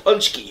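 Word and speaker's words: pączki: and we had to look up how to pronounce it's called a punch key punch key there yeah yeah it's it's a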